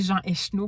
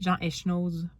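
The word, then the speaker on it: Jean Echenoz: comment prononcer son nom j'ai toujours dit Jeanchou pu j'ai réaliser que le Z se prononçait c'est peut-être Jean Eschnose peut-être que c'est plus ça bref j'en ai jamais lu.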